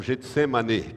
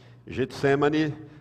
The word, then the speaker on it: Getsêmani: sua prisão a palavra Getsêmani ela o Getsêmani que é a pronúncia certa é com E no fim Getsêmani significa lagar de azeite